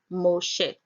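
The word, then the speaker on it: משה: Moses or Moshe is found in Strong's H 4872 and pronounced there as Moshe.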